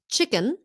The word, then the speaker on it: chicken: How to pronounce the sound chicken, change, and jump.